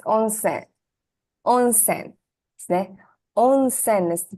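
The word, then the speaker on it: onsen: on you're right you're right hi it's on onen onen is the pronunciation hi own s is Hot Springs right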